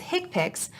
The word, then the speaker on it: HCPCS: common procedure coding system hcpcs commonly pronounced as hipic are a set of